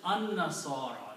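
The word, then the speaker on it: النصارى: will be pronounced as an-nasara. Lam is not pronounced. So this word will be pronounced alif with the noon, and noon will have a shadda because lam is not being pronounced. An-nasara.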